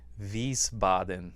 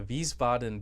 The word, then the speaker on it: Wiesbaden: it takes place in a small town called wiesbaden i think is how you say it in